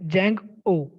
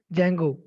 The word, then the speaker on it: Django: So here Django, that means here, see the pronunciation, Django. Okay, here D is silent. So that's why it is Django.